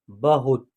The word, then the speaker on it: बहुत: है ऐसे कीजिएगा यहां बहुत जो लिखा हुआ है यहां जो है ना छोटी ऊ की मात्रा का प्रयोग हुआ है यानी कि ह में छोटी ऊ की मात्रा का प्रयोग हुआ है तो इसका उच्चारण यहां होगा बहुत यानी सिंपल तरीके से होगा चतुर में भी जो